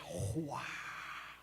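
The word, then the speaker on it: רוּחַ: hebraico é uma onomatopeia porque se pronuncia como um vento que vem é Rua o espírito de Deus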